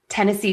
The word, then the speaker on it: Tennessee: Tennessee Titans are next. So we have 2 unstressed and then stressed.